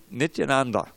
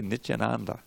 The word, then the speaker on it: Nityananda: little pronunciation drill so that reason learn to pronounce the word nityananda right tell you she Krishna jatin baboon each Anand but what is that mission on everyone says a lot of people they Mitch Ananda but it's Nithyananda now let's say let's let's